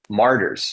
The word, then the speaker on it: Martyrs: no not quenchers sorry Martyrs the one syllable Martyrs Martyrs Martyrs and uh so they